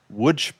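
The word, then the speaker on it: Łódź: which is located in Wood Poland which if you look at the spelling it says L O DZ it is pronounced wood.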